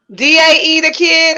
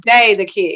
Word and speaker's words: Dae The Kidd: D-A-E The Kidd, or is it Dae The Kidd? It's Dae The Kidd. That's how you spell it.